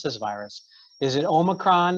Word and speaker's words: omicron: this virus is it omicron is it omicron i think we had vouchers saying omnicron which it definitely isn't that but so we don't